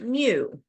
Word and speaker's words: mu: this is a Greek letter M it is pronounced new if you're a Pokemon player it's one of